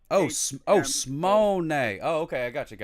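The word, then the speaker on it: שמונה: 8 is Simone. Simone? Monet. 2 syllables. Monet? No, Simone. Smone.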